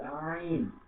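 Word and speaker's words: عين: র, ত, র, তারপরে আইন, আইন গলা থেকে গভীর আওয়াজ দিয়ে আমাদেরকে আইন করতে হবে, আইন।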